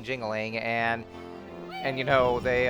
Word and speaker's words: Jingaling: us the way King dingling I like how they actually mispronounce his name like despite the fact that you know he clearly introduced himself as king jingling and and you know